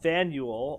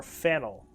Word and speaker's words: Faneuil: have uh Sandwell Hall don't let the French spelling confuse you the name of this building is for is pronounced Faneuil or fennel um getting it wrong